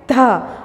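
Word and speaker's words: the: और consonant sound के साथ हमें ध को क्या प्रोनाउंस करना है? ध.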